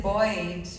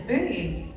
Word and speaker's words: bullied: Like I thought it was like boy. And I once tried to say the, you know, somebody being bullied, but I didn't know how to say it. So I said boyed, but it's not right.